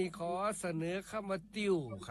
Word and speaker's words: ติ่ว: ขอ เสนอ คำ ว่า ติ้ว ครับ ติ้ว เขียน ต่อ เต่า สระอิ แม่ เอก วอ แหวน รวม กัน แล้ว อ่าน ว่า ติ้ว ครับ ติ้ว นี่ เป็น